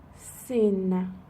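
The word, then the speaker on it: سین: So it's interesting that in Farsi they don't say the sound S like S. They don't say it like that. So when in the alphabet they want to refer to the letter S, they say sin.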